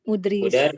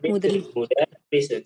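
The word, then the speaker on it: مُدَرِّسٌ: Haza mudir mudris. Mudarrisun. Cara bacanya mudarrisun.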